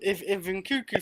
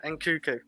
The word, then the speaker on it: Nkunku: If NKUNKU fails, like we have no hope of attackers, just no hope.